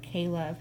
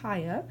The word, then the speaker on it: Kaya: her name is kaya it might look like ko or Kayla her people print out - any different ways but it's pronounced kaya she is a Native